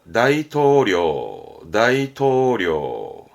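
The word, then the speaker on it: 大統領: 발음은 료크. 가장 많이 보이는 한자죠? 네, 대통령. 다이토료.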